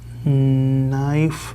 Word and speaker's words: knife: Rosa watches the lightning movements, tries to make her That K is silent. knife Yes.